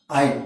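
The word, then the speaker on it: iron: Reddish Lal लाल ब्राउन powder coating ऑन आयरन, क्या बोलते हैं इसको, आयरन। आर साइलेंट रहता है, लेकिन नॉर्थ इंडिया में आयरन बोलते हैं, इट इज आयरन।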